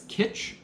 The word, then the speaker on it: Kytch: and in 2019 they relaunched themselves as kitsch it's spelled kytch um for anyone who wants to look it up it's kind of a play on the word kitchen and interconnectivity because what it is